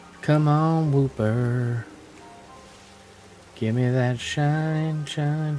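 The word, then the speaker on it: Wooper: Why do you rhyme with Pooper?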